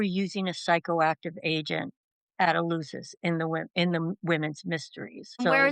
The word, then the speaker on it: Eleusis: Well, people say it a lot of different ways, and it kinda depends Mm, where you're from. I say Eleusis.